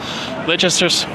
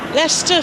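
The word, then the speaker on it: Leicester: Here we are at uh Lchester, how do you say it? Lchester, Lester Square. Lester Square.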